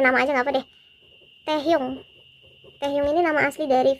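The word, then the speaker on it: 태형: Taehyung, bacanya tuh Taehyung, agak kayak gitu Taehyung.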